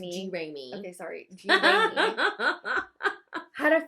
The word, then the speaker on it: Jeramey: It's pronounced Jeramey.